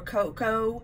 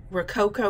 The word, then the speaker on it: Rococo: some pinks it's got we're koko Rose Rococo roses the name I've been pronouncing that wrong this is some daffodil